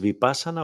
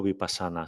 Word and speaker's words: Vipassana: Por cierto, ¿la pronunciación es Vipassana o Vipassana? Sé que tú dices Como quieras, Vipassana.